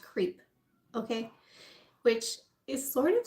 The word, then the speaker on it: CREEP: Now this team is an abbreviation for something, but basically it's pronounced creep.